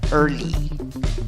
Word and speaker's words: early: Y en la segunda sílaba, la palabra termina con una Y y la pronunciación es con una I larga, representada por esa E con el sombrero arriba.